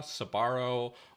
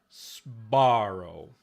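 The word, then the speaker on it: Sbarro: They put in empathetic schwa, Sabaro, or they make this into like a Z and Zbaro, but they don't say Sparrow.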